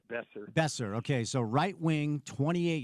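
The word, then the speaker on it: Boeser: Uh Brock, I believe it's Bozer from Vancouver, right? Besser. It's pronounced Besser.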